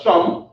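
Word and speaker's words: שם: the the and then sham not not sh but sham sham means name sh sham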